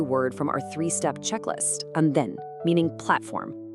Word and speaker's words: andén: from our 3-step checklist, andén, meaning platform. Notice the accent mark over the E. That tells us to put the vocal stress firmly on the final syllable, andén.